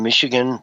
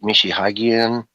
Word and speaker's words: Michigan: And man, you watch Europeans, you know, I've seen Michigan get pronounced oh so many horrible ways. Stepped on left and right. Mishi Mishihagen, you know, just uh all kinds of different